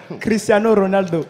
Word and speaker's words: Cristiano Ronaldo: Cristiano Ronaldo, numéro Tu as 5. roulé les R, c'est bien. J'ai roulé comme il faut.